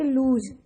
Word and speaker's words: loose: LOSE को बोलेंगे लूज, इसमें जो स्ट्रेस है वो ज का होगा, और सेकंड में लूज स का होगा।